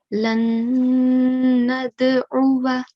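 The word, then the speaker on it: لن ندعوا: Okay, so this word, we will recite it as lan nad'uwa. Lan nad'uwa. Very good. So we didn't pronounce the blank alif. Okay, it's a silent alif.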